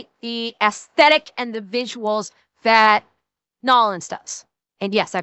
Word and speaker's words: New Orleans: There there's no city that has the the the the aesthetic and the visuals that Nolins does. And yes, I pronounced it correctly, Nolins.